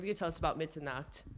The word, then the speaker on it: Mitternacht: I was wondering if you could tell us about Mitternacht. I feel like I'm butchering that pronunciation. It was pretty good. It's called Mitternacht, so it's So close.